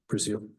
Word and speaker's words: Brazil: matter of Justin Brazil is that the proper pronunciation breil brail and Elizabeth Connor case